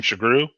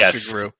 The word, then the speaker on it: Sugrue: you want to know last name chagru i didn't want to know how to pronounce that i thought it was a guru um hard to pronounce easy to spell looks nothing like it sounds what is the ethnicity